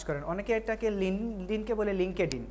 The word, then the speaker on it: LinkedIn: অনেকে এটাকে লিঙ্কডইনকে বলে লিঙ্কডইন। সো এটা উচ্চারণ হল লিঙ্কডইন।